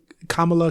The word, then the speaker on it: Kamala: be new jersey raised kamala khan that's how she said it right because she corrected the girls where she said come